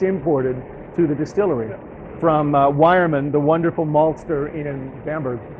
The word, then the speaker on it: Weyermann: This is from Weyermann in Bamberg.